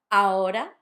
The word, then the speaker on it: ahora: Ahora. But not ahora. Notice the R because it's between two vowels. If it had double R, it would be ahora, which is a completely different thing.